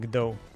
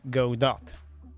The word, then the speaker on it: Godot: I forgot his name, actually told that it's Godot. So I think community is right on that. He can like think whatever he likes, but if community mostly pronounces it as Godot, then it's Godot.